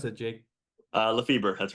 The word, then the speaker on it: Lefeber: lefel or Leber how do you pronounce it Jake uh Leber that's right LEF feber all right if if you want to do